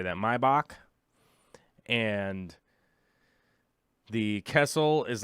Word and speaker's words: Maybach: Maybach.